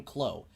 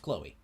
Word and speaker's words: Chloe: your own research right he is indeed pronouncing her name khloe it's pronounced chloe it is it is chloe it's just i don't